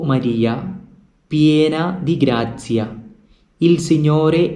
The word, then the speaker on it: grazia: Please note the pronunciation. It is not grazia, but it is grazia. The Z sound. The Z sound should be pronounced correctly. Grazia.